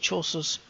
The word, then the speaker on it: Chaucer: Enter the medieval world of Chaucer's that's how you say his name, Canterbury Tales, where your journey and the stories you tell will change history.